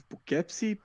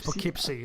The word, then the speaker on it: Poughkeepsie: It's weird because it's Poughkeepsie. No, it's Poughkeepsie. That's how they pronounce it in the film as well.